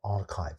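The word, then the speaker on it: arXiv: the internet on this website called archive spelled like this I hope that other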